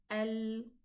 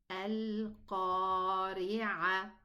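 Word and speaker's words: القارعة: So if I say Al-Qari'ah, what did I do?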